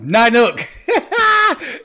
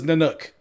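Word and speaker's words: Nanook: Corey Haim's character had a dog, an Alaskan Husky, and his name was Nynuk. And he pronounced it Nynuk, but it's NYNUK.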